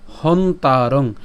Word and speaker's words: হন্তারং: তাহলে উচ্চারণ কেমন হবে, বেত, এই ত পর্যন্ত উচ্চারণ করে তর শিকার বেত্তি। এরপর হন্তারং, এখানে আমরা হ এবং দন্তন পর্যন্ত উচ্চারণ করছি, হসন্ত পর্যন্ত, ঠিক আছে, তাহলে এর উচ্চারণ কেমন, হন।